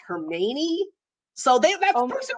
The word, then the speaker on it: Hermione: with me I actually started calling her hermie on and then someone once said to me that it's actually pronounced her meny so they went home